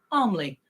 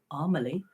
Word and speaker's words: Armley: and it's it'll be like a major name like I don't know something like armley and it comes out as armily and every time it